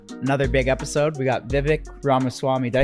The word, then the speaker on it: Vivek: We got Vivic Rama Swami. Did I say that correct? Correctly. Pronounced correctly. Pretty close. Vive like cake. Vive cake. Like ram. Okay. Yeah, Vake Rama Swami.